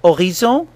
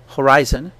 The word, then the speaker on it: horizon: Well, in French, when H is the first letter of a word, it's a silent letter. So it means that in words like man, or horizon, horizon, the first sound we pronounce is the vowel after the H.